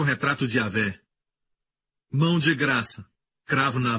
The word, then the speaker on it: Yahweh: Yud, rei, Vav, rei, pronunciado como Yahvé.